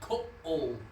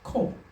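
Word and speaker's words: כל: So yes, So it's not ko oh, it's ko. no, it's kol. It's one sound, one syllable, kol.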